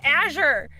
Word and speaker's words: Azure: on to me about yes aour you're like Azor drag I'm like no it's Azure oh my God record that line so many